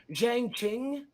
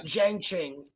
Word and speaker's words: Zhang Qing: It's Zhang Qing. Make your best guess. Cheng Ching? Yeah, probably, yeah. Zhang Qing. And it could be a little bit different, but that pronunciation.